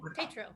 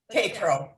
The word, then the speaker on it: Tatro: Is that how you pronounce it? Good. Tatro. Tatro.